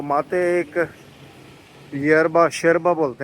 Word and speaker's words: yerba: तो माते एक यरबा, शेरबा बोलते हैं उसको, शेरबा, YERBA, यरबा। हम तो इंग्लिश में यरबा प्रोनाउंस करेंगे, लेकिन वो प्रोनाउंस करते हैं शेरबा।